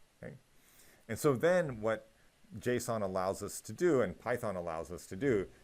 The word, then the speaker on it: JSON: It's called JSON, which you can see here, JSON, and that's pronounced JSON.